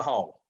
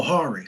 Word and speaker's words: Hari: Um, how do you pronounce his first name, Coach? Mr. Hall. The one you said, Okay, that's you said Hall. Hall. Yeah, Oh, Hari.